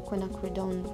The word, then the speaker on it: quinacridone: To cover the spots on the first fish, I'm using quinacridone red.